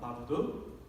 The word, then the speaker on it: 마르둑: 한국말로는 무로닷이래요. 무로닷. 그러니까 한국 이 뭐랄까요? 네, 발음으로는 그렇게 되는데 원래는 마르둑입니다. 마르둑.